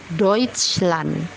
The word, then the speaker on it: Deutschland: Yang kedua ada huruf EU atau huruf A umlaut bertemu dengan U dibaca OI. Contoh katanya Deutschland.